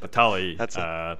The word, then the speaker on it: Batalj: So explain to me what Batalj. I'm never gonna say it right. Batalj.